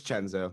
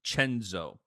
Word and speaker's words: Cenzo: promo code man jenzo it's chenzo c-e-n-z-o spelled senzo pronounced chenzo or spelled either either